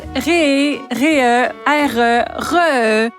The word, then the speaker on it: REEE: Je ne sais pas s'ils font des régimes enregistrés d'épargnées en forme d'animaux, mais qu'on le prononce ré re ré re.